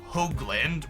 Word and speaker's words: Hoagland: My last name is pronounced Hoagland with a long O sound.